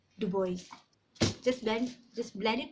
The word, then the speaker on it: Dubois: so the boys is actually a French word that is meant to be pronounced as Dubois but Kenyans with the